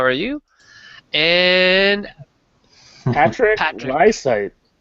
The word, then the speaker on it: Lysaght: are you and Patrick liight liight which rhy rhymes with eyesight but is not spelled like that at allat aren you